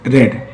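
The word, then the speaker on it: read: जैसे वह पढ़ चुका है तो ही हैज रेड, यहाँ पर स्पेलिंग वही रहेगी, इसका प्रोनाउंसिएशन चेंज होगा, रेड।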